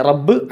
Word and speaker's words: رَبّ: നമ്മൾ മലയാളത്തിൽ പറയുന്ന റാ ഉണ്ടല്ലോ, യാ രാല ഭാഷ സഹാള റാ എന്നൊക്കെ പറയുന്ന ആ റാ അല്ല, മറിച്ച് അറബി ഭാഷയാകുമ്പോൾ ഒരു അല്പം ഘനം ഉള്ള അക്ഷരമാണ് റാ എന്നുള്ളത്.